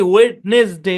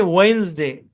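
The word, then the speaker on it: Wednesday: আর এটাকে আমরা বলি ওয়েডনেসডে, এভাবে বলি না, এটার উচ্চারণ হচ্ছে ওয়েন্সডে। এখানে ডিটা তো সাইলেন্ট, হ্যাঁ, এবং সেই সাথে ইও সাইলেন্ট, এবং এসটা যেটার মধ্যে সাউন্ড দেয়, ওয়েন্সডে।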